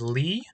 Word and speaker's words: Lih: Uh, by the way, I I may have referred to my opponent, my nemesis here as Leia before. Um, but but their name, their username is actually pronounced Lee.